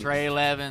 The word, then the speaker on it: Trelevin: Well, Trelevin, I forgot Trelevin, we're Texas, so it's Trelevin. Trelevin. Trey Levin. That was Trelevin. That's how you say it.